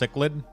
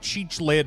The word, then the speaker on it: cichlid: told me that like your name was like a type of fish and it's pronounced cichlid you remember that I called you like cheich lid or whatever for like